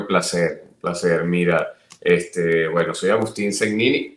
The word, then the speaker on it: Segnini: Aunque he escuchado que te nombran Segnini, la pronunciación es Segnini, Segnini.